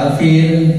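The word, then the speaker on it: الفيل: Nah, bacanya harus jelas, tidak boleh mantul atau ditahan. Nah, pada al-fil dibaca panjang, fil boleh dibaca 2 ketukan, 4 ketukan atau 6 ketukan.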